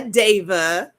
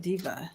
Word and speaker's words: Deva: Hi, Deva. That's how you say her name, Deva. Deva. Oh, I love it. I know. Because I would have said diva.